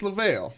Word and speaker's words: Lavelle: I like Level better. It's Lavelle. Lavelle. You gotta say it like that too.